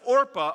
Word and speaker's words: Orpah: you got there so anyway Naomi says to Orpah Orpah a Orpah and Ruth you guys really should stay here